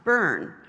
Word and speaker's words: Byrne: so my name is even though it's spelled B Y R and E is pronounced burn so when I was